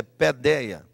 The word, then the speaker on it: paideia: Escreve paideia, mas a pronúncia é pedeia.